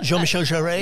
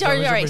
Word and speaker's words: Jean-Michel Jarre: one of the original French, Jean-Michel, I can't pronounce his last name, a French experimental. Jean-Michel Jarre? Yes, Jarre.